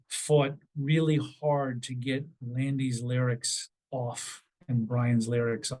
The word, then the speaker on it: Landy: by Andy or by the man whose name rhymes with Andy it was Landy um and he was